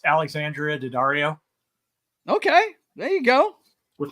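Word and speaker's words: Alexandra Daddario: I have an honorable mention, and that is I'd look up her name because I can never remember how to pronounce it. It's Alexandria Daddario Okay, there you go.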